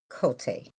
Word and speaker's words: Cote: Oh, it's Cody, but it's spelled with a T. Cote.